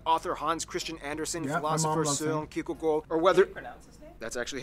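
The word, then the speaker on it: Hans Christian Andersen: its Mark whether it's notable figures like author Hans Christian Anderson that's actually how you pronounce his name wow it's not storing Kierkegaard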